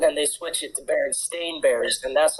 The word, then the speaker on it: Berenstain: Yeah, and then they switch it to Berenstain Bears, and that's how it's pronounced.